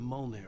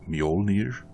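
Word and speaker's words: Mjölnir: my hammer's up here's a friendly poke from mullner wench he brought the hammer down with all his might on sinclair's head we're on a comeback tour baby it's pronounced mjolnir and uh i guess tor anderson is th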